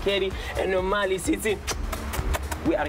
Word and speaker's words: CADD: It's your boy CADD, pronounced Katie, and normally City.